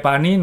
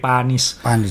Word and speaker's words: Panis: Dan waktu ini satu-satu kemenangannya Olivier Panis, bacanya Panis ya, jangan pakai Panis. Bacanya Panis.